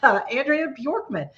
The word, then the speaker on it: Andrea Bjorkman: And thank you for pronouncing my my name correctly, Andrea Bjorkman.